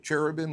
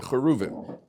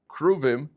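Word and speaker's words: כרובים: How do you say it in English? Cherubim, that's how they pronounce it? The cherubim. The cheruvim.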